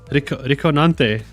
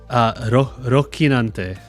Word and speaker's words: Rocinante: How do I pronounce this? Riconante. Rocinante. Rocinante? I like this name. I want to pronounce it right. Is it Rico? Al Riconante. Oh, it's Rocinante.